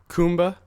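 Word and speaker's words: Khumba: Kumba.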